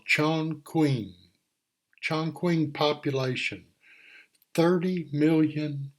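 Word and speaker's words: Chongqing: here right here is chin Queen I don't know how to pronounce it exactly but I'll show you the population there's there's no airplanes and no it's called Chong Queen Chon queen population thirty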